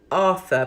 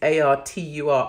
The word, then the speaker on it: Artur: Pastor Arthur, but I think it's Artur, Arthur Pawlowski.